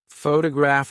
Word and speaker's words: photograph: For example, photograph as a noun is stressed on the first syllable, but photographic as an adjective is stressed on the third.